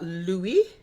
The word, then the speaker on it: Louis: medical doctor okay okay it's uh Louie l o u i s pronounce Louie pasture the value of